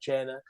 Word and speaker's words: Cena: Cena is Cena. And that's why when I was Santino and it said, you got a big mouth, John Cena, that's how it's pronounced.